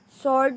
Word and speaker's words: sword: with the silent end sword with the silent w this time with the